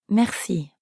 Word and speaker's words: merci: means thank you merci merci merci has a french r in the middle so we have to use our throat a bit mercy merci you give it a shot